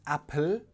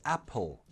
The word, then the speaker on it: apple: Now you know that that L should be a dark L. So it's not apple, it's apple, apple.